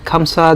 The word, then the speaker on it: خمسة: খামসা খামসা যে জিনিসটা, সেটা হচ্ছে আমরা যদি বলি দক্ষিণ এশিয়ান একটা খামসা, যেটা প্রকৃত অর্থ হবে কিন্তু খামসা, খ দিয়ে আল হরফ আর আরবি হরফ খ দিয়ে উচ্চারণ করতে হবে।